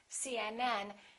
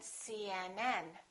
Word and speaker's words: CNN: The rule is we stress the last letter of an abbreviation.